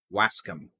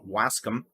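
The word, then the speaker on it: Waskom: an idiot and move on because i can't pronounce a town right but that i can accept wascum okay okay so yeah there you go it'll be it's blowing it down wask them give another 10 minutes it'll be dunsies you'll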